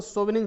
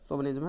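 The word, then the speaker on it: chauvinism: And fanatical cultural सोविनिज्म, and fanatical cultural, इसको सोविनिज्म पढ़ा जाएगा, CH से बड़ा सा होगा यहाँ, क्लियर। फैनेटिकल कल्चरल सोविनिज्म, इसका उच्चारण सोविनिज्म है।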